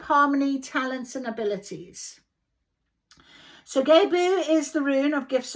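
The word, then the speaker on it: Gebo: Known as Gebu. Gebu. That's how you pronounce it.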